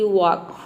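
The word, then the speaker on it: walk: मतलब होता है बछड़ा देखते हैं कि एल के बाद यदि के आ जाता है तब भी ए लेटर साइलेंट रहता है जैसे कि वक वॉक में देखिए एल के बाद के आ रहा है यहां पे के को हम क प्रोनाउंस एल को ल प्रोनाउंस करते हैं लेकिन ल का साउंड नहीं है वक मतलब होता है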